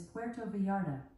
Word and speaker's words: Puerto Vallarta: vetta the correct pronunciation of Puerto varda is Puerto varda pronounced as Puerto V with the roots Puerto V